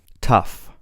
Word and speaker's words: tough: Tough, tough. Though, though. Thought, thought. Through, through. Thorough, thorough. You can see, depending on the word, the GH sound is pronounced differently.